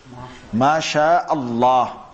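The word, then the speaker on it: Masha'Allah: say what is what masha allah masha allah that's the proper way of saying it or some people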